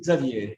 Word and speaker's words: Xavier: So in French, I mean, you would say Xavier, but wherever I've lived, people cannot pronounce it correctly.